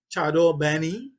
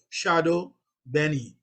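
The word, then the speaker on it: chadon beni: Chardon Benny, and that's how it's spelled, Chardon Benny. I hear a lot of Trinidadians say Shadow Benny, but that's all right. That's we Trinity thing.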